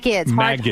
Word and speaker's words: Magids: how do you say your last name? Magids, right? Magids, hard G.